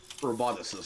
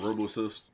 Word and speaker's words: roboticist: welcome to the UCA roboticist that's how you say it I've been saying Robo assist allterrain skeleton that actually